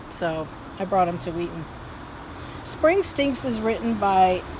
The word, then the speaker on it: Wheaton: give you three guesses it rhymes with eaten or meat that's right you guessed it it's wheaton we're here today at